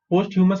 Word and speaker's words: posthumous: Posthumous का मतलब क्या है? After death. Okay, उसका meaning है after death. How do you pronounce this? P-O-S-T is post, H-U is hue, M-O-U-S is mus. Okay, posthumous.